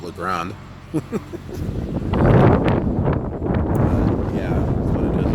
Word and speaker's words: La Grande: Oh, it should be pronounced La Grande. I don't know if maybe in Oregon they just pronounce it La Grande.